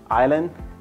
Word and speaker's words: island: about these at least if you are not pronouncing them wrong this is I'll Island debris and I'll I'll and I'll these two